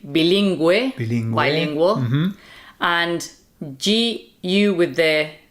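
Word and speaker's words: bilingüe: Okay, so when you see the U with the two dots, that means the U has to be pronounced. So that would be Gue, like bilingue, bilingual, and G-U with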